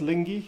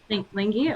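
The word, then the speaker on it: Lyngvi: But in your fight scene where King Lingi, Yeah, I think that's pronounced Lingi. Yeah. Lingi, okay.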